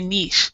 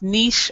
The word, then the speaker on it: niche: people say niche, my niche. There's two pronunciations, niche or niche. I say niche.